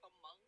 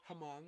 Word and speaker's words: Hmong: They're like, "How do you pronounce this?" I'm like, "Hmong." They're like, "Hmong." No, Hmong. Hmong.